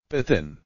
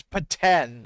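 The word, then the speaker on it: Petén: Patin. Oh, it's Paten. Okay, Paten. Patin. Okay, yeah, Paten.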